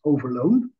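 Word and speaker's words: Overloon: indeed a presentation on the battle of overloan as we call it in the Netherlands but yon I think you did a very good job in pronouncing it uh in English but I will stick to the Dutch which is overloan um and the title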